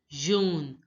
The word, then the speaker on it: jaune: Yellow is pronounced as jaune, jaune. Now recognize the AU sound. AU. Wherever you see AU together, it has to be pronounced as O. O. Jaune. So it becomes jaune, jaune. The last T is not pronounced. So you have to pronounce till N. Jaune, jaune.